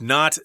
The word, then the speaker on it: knot: sure to ask about knot density as more knots indicate better quality and a smoother texture so here we've got the word not KN ot it's pronounced the same as not I am NOT Canadian